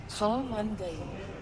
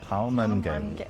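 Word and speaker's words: ข้าวมันไก่: Let's see how to actually pronounce it. Actually, Khao Man Gai. Khao Man Gai. It sounds more Similar. like gay than Oh, guy. yeah. Khao Man Gai.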